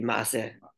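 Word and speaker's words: מעשה: So Yiddish incorporated the word Ma'aser, but if you want to pronounce it in Hebrew, it would be Ma'aser.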